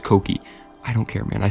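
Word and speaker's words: Kouki: are about to say Mark it's koki it's pronounced koki I don't care man I still call it the Kookie it just rolls off the tongue better anyway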